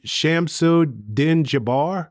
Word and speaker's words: Shamsuddin Jabbar: But the more you learned about the gentleman, and I believe you pronounce his name Shamsuddin Jabbar. Mm-hmm. I believe that's how his name is pronounced.